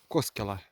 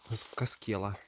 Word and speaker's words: Koskela: Сейчас я нахожусь около хутора Коскела. Коскела, если по-фински. Первое ударение, хотя я всегда назвал Каскела.